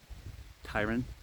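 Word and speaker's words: Tyrian: his name is Tyran it's not spelled that way it's spelled like t-y-r-i-a-n but it's Tyran Tyran something like that but anyways and then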